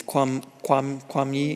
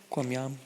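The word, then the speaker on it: 觀音: How do you say Guanyin in Cantonese? Kwam yi? Yum. Kwam yam? Yum. Kwam yam.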